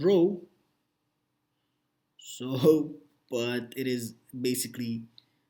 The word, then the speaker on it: rho: So this is nothing, we call this like rho, so the pronunciation is rho, but this is basically the density and nothing more.